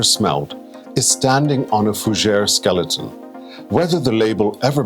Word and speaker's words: fougère: Fougère, pronounced fougère, is the other French for fern.